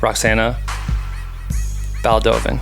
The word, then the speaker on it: Roxana Baldovin: the way you just told me how to pronounce it or the way I thought it was. Roxana Baldovin.